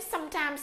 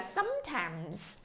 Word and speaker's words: sometimes: Đừng có nói sometimes, sometimes nha. Cái từ này là sometimes.